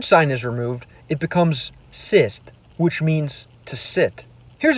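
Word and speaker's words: сесть: If the hard sign is removed, it becomes sist, which means to sit.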